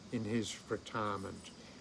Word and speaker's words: Xin Qiji: On this day in 1140 the Chinese poet, statesman and military leader Xin Qiji (pronounced ‘Shin Chee Gee”) was born.